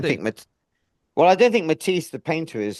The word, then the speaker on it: Mathis: It's Matis in the books that I'm listening to. Oh, really? Yeah. Matis like like the painter Matise.